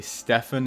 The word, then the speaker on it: Stefan: Uh, I think writhing I did once and I know you're supposed to say Stefan instead of Steven.